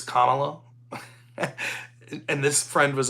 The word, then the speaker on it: Kamala: I say it like the old wrestler, Kamala, or Kamala, but it's Kamala.